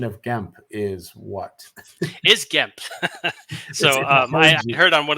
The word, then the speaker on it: Gemp: And just to get a clarification, the correct pronunciation of Gemp is what? Is Gemp.